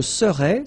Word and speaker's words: serais: Je serais, same thing here, final S not pronounced.